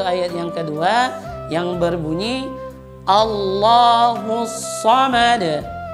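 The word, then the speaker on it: الله: melafazkan lafaz Allah itu dia membaca A-nya dengan tebal, sama dengan waw di atas tadi, dia membacanya Allah, Allah. Nah, ini salah. Karena huruf A itu tipis, tidak tebal. Maka yang benar adalah A, Allahu, cuma lamnya saja yang tebal.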